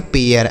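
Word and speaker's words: pare: ए के बाद आर इ रहेगा तो ए का उच्चारण।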